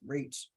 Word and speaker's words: REACH: Foundation we use acronyms r-e-c-h pronounce reach I'm formally incarcerated I've